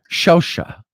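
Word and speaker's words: Shavsha: He had Shosha. Yeah, that's how you pronounce that.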